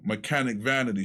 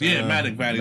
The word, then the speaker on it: Manic Vanity: the city first was Mechanic Vanity. Shout outs to Mechanic Vanity. Oh, you talking about Manic Vanity? That's Manic Vanity. That's how you pronounce it.